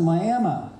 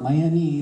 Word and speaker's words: Miami: And then you got to Miami. I know it looks like Miami, but in Oklahoma they pronounce it Miami, and conservative thinking then and now.